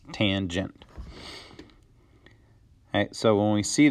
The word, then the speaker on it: tangent: Since summer is coming to a close here, we're not dealing with tan anymore. We are dealing with tangent, okay, and that is pronounced tangent.